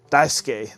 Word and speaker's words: Daisuke: I just told you many times it's pronounced Daisuke.